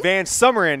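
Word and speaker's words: VanSumeren: We have Ben Mason, the sophomore, and then another Ben, Van Smurinen, for freshman. Van Summerin, that's how I pronounce his name.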